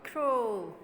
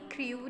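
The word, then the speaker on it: crow: अब आपने इसको भी क्रू नहीं बोलना. ठीक है, रिमेंबर यहाँ हम साउंड्स की प्रोनाउंसिएशन कर रहे हैं तो आपने यहाँ क्रू नहीं बोलना. This is क्रो.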